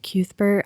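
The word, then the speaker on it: Cuthbert: reminds Roland of okay the Audi book pronounces it cuber I've always said cuber I've always said can we just agree to say cuthber yes okay sorry listeners if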